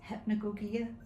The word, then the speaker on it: hypnagogia: How do you pronounce hypnogogia?